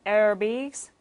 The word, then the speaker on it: aerobics: aerobics 이렇게 발음을 해주시면 되고요.